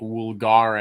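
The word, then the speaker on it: vulgaris: here so um and the v in hard Latin would be pronounced as a w so would actually be in hard Latin it would be like woolgar a Bulgaria Bulgari no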